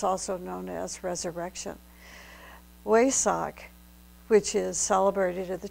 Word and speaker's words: Wesak: The highest moment of these three moons, of course, as I tried to mention, is the Wesak. Some people pronounce it Vesak festival, all one and the same.